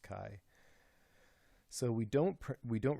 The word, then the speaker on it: chi: it's a Greek letter Kai Chi it's not pronounced Chi it's pronounced Kai so we don't we don't reject because Kai